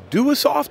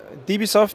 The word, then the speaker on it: Dewesoft: He's with the, the Europeans pronounce W sometimes with Vs. Is it Dewesoft or Dewesoft?